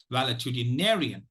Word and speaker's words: valetudinarian: pronunciation of this word so the pronunciation of primary stress is on the fifth syllable nay the secondary stresses on the first syllable Val so it is it's it's a validity narrian validity narian palatinarian so uh dear